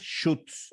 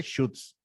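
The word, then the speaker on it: Schütz: Normalmente es Schutz, o sea, como shoot, como shot, pero shoot.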